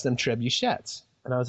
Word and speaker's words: trebuchet: It should sound like trebuchet, not trebuchet.